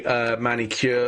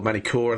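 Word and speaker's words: Magny-Cours: So, but next race will be Manicure, or Manicourt, I think is how you pronounce it over in France.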